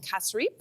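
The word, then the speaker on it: cassareep: So you say the key to the key ingredient to the pepper pot is actually an ingredient called Casrip.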